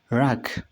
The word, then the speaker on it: wrack: ሪንግ ብለን በእንደዚህ እናነባዋለን ማለት ነው። ኦኬ ኔክስት WRACK ከዚህ ጋርም ዳብሊው ምንድነው? ሳይለንት ነው ማለት ነው። እንዴት እናነባዋለን? ክ እንደ አ ይነበብና ራክ እንደዚህ ማለት ነው። ራክ DUMB B is